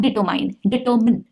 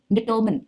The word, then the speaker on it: determine: Determine, not determine, determine, no mine, only min.